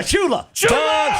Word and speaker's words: Shula: It rhymes with moola. YEAH. SHULA.